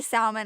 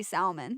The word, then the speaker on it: salmon: Oh my god, I do say salmon. I'm sorry. I know I can't not say salmon. Oh my god. Why is there an L in it if it's not supposed to be pronounced?